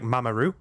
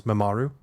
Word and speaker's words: Mamoru: rupaul together um and she was like oh it sounds like mamaroo i was like oh no and it for a while it destroyed my ability to pronounce mamaru because every time i tried to pronounce it i was thinking of mamaroo so yeah yeah mama is